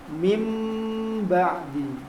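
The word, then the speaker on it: مِنْ بَعْدِ: Contohnya seperti tulisannya min ba'di, dibacanya dengan mim ba'di, mim ba'di.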